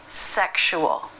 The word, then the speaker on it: sexual: sex ual sexuality so with the word sex something changes when it's followed by you like in sexual sexuality bisexual sexualized now instead of KS The Sounds we get are k s h foreign so sex sexy we still have chaos but as soon as it's followed by you sexual sexual it changes we now have k s h sexual and actually I